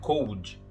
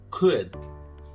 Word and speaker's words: could: E na pronúncia correta, esse O e esse L são meio que esquecidos, tá? Não temos could, tá? Não é cold, é could.